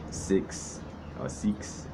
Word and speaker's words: Sikhs: Hindus Sikhs and James saying it right six-six SI k HS and james j AI